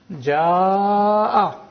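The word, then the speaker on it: جاء: And that is to bring out the Hamza, otherwise the Hamza will get lost. Ma'un. Hamza is a very difficult sound to be pronounced. So it has to be brought out, pronounced clearly, so the vowel is lengthened.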